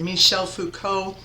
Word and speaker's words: Michel Foucault: That is how you say it, Michel Foucault, a French philosopher and critical theorist who actually, surprisingly, is not considered a rhetorical theorist necessarily, but in fact a critical theorist.